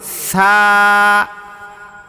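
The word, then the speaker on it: ثا: এই হরফটার নাম হল ছা বলেন তো সবাই এই হরফটা নরম হবে বলেন তো কি হবে নরম হবে নরম হবে এবং এক আলিফ পরিমাণ টান হবে কত আলিফ টান হবে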